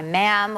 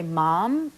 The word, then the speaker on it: ma'am: sir and her by ma'am which rhymes with spam like they write that